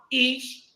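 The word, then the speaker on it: אִישׁ: Yahweh, Ish, Milkamah. Yahweh Shamo.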